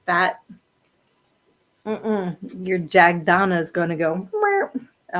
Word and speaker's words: Jagdana: But still, I'll spell that again. It's JAGDANA, Jagdana.